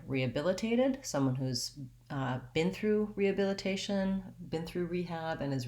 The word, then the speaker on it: rehabilitation: And then in rehabilitated and rehabilitation, I don't say the H sound.